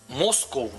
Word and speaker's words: Москва: но на самом деле надо сказать что москов у нас говорят не Москва а моско Угу И вот это произношение оно перешло и в английский язык То есть если вы вот да англичане и все другие иностранцы говорят моско не Москва а моско именно так как мы говорим о чём это может